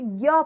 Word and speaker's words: ज्ञ: तो अगर हम ज कहते इसको हम बोलते ज तो इसका उच्चारण स्थान तालु ही हो जाता। अब दो बार तालु थोड़ी लगेगा। तालु ही होता, लेकिन, इसका उच्चारण तालु ना रहकर यह हो चुका है। क्या हो चुका है? कंठ तालु हो चुका है। क्योंकि हम इसे ज्ञ पढ़ने लगे हैं।